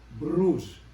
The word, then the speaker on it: Bruges: Makita nyo detoy kakapsat, kitain nyo detoy ti picture ti may nga syudad jay Belgium, nga ti pronunciation na detoy ket Bruges. BRUGS DJ tinagan DJ nga siyudad.